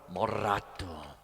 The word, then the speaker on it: moderato: And then you have moderato, got to roll your R, moderato.